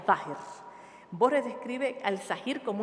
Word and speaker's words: Zahir: En árabe, la voz sahir significa lo visible o manifiesto, se pronuncia zahir.